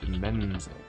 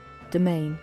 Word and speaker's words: demesne: What is that word? Demenze. Domain. Domain? Really? Huh.